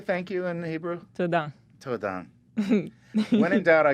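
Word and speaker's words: תודה: "Toda." Todan. When in doubt, I go shalom because it means so many things. yeah, like because aloha. you got everything. Yeah, it is. Mahalo. Toda.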